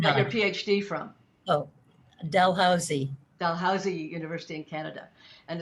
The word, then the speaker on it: Dalhousie: i mean you got your phd from oh dalhousie dalhousie university in canada and there's another faculty